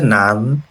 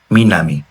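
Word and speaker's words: 南: তো এটা রিডিং হচ্ছে নান বা না বা মিনামি।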